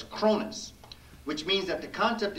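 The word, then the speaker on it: Kronos: The Cronus Complex, K-R-O-N-O-S, or however you might want to spell it, but it's Cronus, which means that the concept is that the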